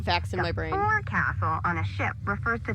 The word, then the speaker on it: forecastle: of a sailing ship, but it's pronounced forecastle. Why's that? Try pronouncing it like an English sailor with no formal education. Forecastle. Forecastle. Over time, it whittled down.